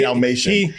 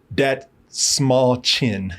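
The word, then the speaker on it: Dastmalchian: I keep still want to say David Dalmatian. I did that before. No, he took me word by word on how to say his name, because he said that small chin.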